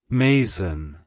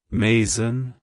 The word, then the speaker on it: Masen: the more common name Mason it's pronounced as Mason Mason Mason to pronounce it correctly emphasize the first syllable May and the second syllable